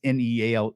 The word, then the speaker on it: Neale: It's with a Y, and it's Neale. The E is silent.